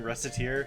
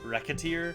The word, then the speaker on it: Recettear: been pronouncing this game reciter it's probably i think supposed to be pronounced more like racketeer like racketeer also that's